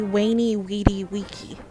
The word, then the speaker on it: veni vidi vici: to be easier yeah like veni vidi vici is not veni vidi vici technically like that's not how it should be pronounced that's how you would pronounce it in that's like how the church would pronounce it but it should be wayney weedy weaky because these are pronounced the same as w's in classical latin and there's no